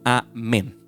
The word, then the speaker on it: amén: es la transliteración que entonces, o sea, amén se escribe en hebreo así y se pronuncia así mismito, amén.